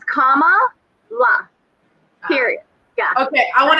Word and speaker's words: Kamala: We need to pronounce her name correctly. So it is Kamala. Kamala. It's not Kamala.